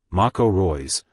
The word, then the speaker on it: Marco Reus: November 11 2021 UTC Marco Reyes German pronunciation Mako Roy's born May 31 1989